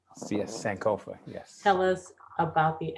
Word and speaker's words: Sankofa: pronouncing that correctly cs sankofa yes tell us about the album and what the title means uh well first of all the title sankofa it's a ghanaian term uh meaning uh literally